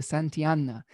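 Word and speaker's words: Santillana: uh de san tel tijana i think that's how you say it the santiana and this is a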